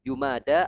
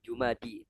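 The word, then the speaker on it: جمادى: Jadi jumada alula ya bukan jumadi tapi jumada alula.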